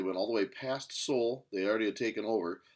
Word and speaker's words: Seoul: to the left of seoul that's how you pronounce this name right here seoul south korea they attacked oops oh fat fingers